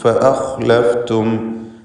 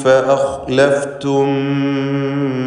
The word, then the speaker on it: فأخلفتم: മിർ റബ്ബിക്കും ഫഅഖ്ലഫ്തും മൗഇദി, ഫഅഖ്ലഫ്തും ഖാ തഫ്ഖീം ചെയ്യേണ്ട ഇസ്തിഅലാൻ്റെ ഹർഫാണ്. ഫഅഖ് എന്ന് തടിപ്പിച്ച് സ്വരഭാരത്തോടെ ഖാ ഉച്ചരിക്കുക.